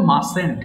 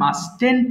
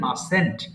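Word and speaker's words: mustn't: না very good তাহলে উচ্চারণটা কি বলবো মাসেন্ট এটা কিন্তু অনেকে ভুল করে মাস্টেন্ট বলে মাস্টেন্ট হবে না বরং হবে মাসেন্ট আচ্ছা এবার পড়া শুরু করবো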